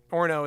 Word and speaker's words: Orono: Everyone says Orono, that's like New England, Massachusetts is the home of the weirdest town names, where I'm from, but Maine is close second, and "Orno" is how you say it.